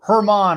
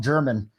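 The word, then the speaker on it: Germán: early uh joe ross domingo hermond or some people call him german which is not the uh right pronunciation nine is the total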